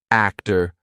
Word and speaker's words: actor: But if a T comes after any other consonant, a lot of times it's going to be pronounced as the true T. For example, actor, doctor, empty. Okay, so we're going to be using the true T sound in those words.